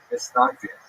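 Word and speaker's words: Mitnagdim: A series of bans and counter-bans between the so-called opponents, or in Hebrew, Mitznagdim, Ashkenazi pronunciation, Mitznagdim, or to our friends, the Snags.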